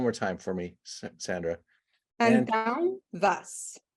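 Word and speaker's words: Antão Vaz: Antanvas. Antau Vas. Antanvas. Think of the words up and down. So the latter end of the down, if you put ant in front of it, Antanvas, that's how you pronounce it.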